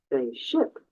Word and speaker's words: ship: it now try ship focusing on that sh sound almost like you're Whispering go ahead could you check my pronunciation please I can't hear your pronunciation directly but here's what you can do ship with the sh sound of a starus like sh and make the I short like can sit if you're saying sheep